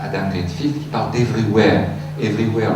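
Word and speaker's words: everyware: Everywhere, le mot anglais, sauf que la fin s'écrit W-A-R-E.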